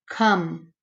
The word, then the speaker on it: come: I don't say O. So this is short, but there's a silent E. So this should be long if there's a silent E. But since it's short, that's what makes it an oddball.